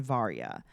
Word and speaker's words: Varia: not good at it think of like VAR and then y I mean I don't